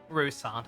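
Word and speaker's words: Roussainte: the rousan hiding his inadequacy behind Louis's Authority rusant that's how you pronounce that species the boy candidate isn't the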